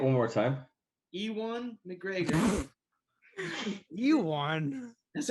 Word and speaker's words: Ewan: Ewan. That's how I call it. I think you're saying Ewan because of Ewok. Ewan. Spelling similar, but pronunciation's Ewan. different.